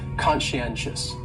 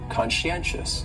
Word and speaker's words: conscientious: on there so conscientious has four syllables and the stress is on that third syllable that NN conscientious conscientious that second syllable is